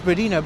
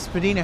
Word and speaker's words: Spadina: It's actually Spadina, but it's initially pronounced Spedina because of Spadina House and the family that was there. So, if you're in the city, it's Spina, but if you're at that one particular residency, it's Spedina.